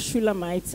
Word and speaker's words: Shulamite: I noticed you did not pronounce the Shulamite. Permit me, sir, just to explain my name. My name is Shulamite.